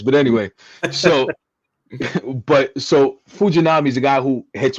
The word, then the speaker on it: Fujinami: say his name fuj I'm just say Fuji fujinami right said it right he said it good oh wow look at me hey for Puerto Rican guys but anyway so but so fujinami is a guy who hits 104 on the